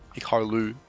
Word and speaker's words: Hikaru: Hikaru, it's pronounced, I was told.